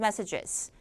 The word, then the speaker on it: messages: 자, G로 끝나면은 제가 그 발음 강의 시간에 CH처럼 들리게끔 무성음으로 발음하셔야 된다 그랬었는데 이게 복수형이 되는 순간 이 규칙이 사라져요. 그래서 messages 하면 안 되고 messages라고 정확하게 음절로 소리를 내주셔야 돼요.